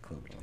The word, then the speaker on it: Klobuchar: You support Senator, can you pronounce her last name again? Amy Klobuchar. Her name is Amy Klobuchar. Yeah. Yes, Klobuchar.